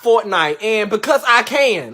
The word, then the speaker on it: Fortnite: Why was you up late last night playing forklift? Fool, it's pronounced Fortnite.